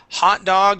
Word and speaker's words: hot dog: completely different word okay hot dog is what you eat okay the accent or the stress goes at the very beginning of the word all right and now